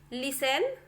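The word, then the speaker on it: listen: देखिए ये जो लिखा है वो castle, Christmas, लिसन, often, we shall, इस तरीके से आपको पढ़ना है। टी को बिल्कुल भी नहीं पढ़ना है, यहाँ पे टी साइलेंट होता है।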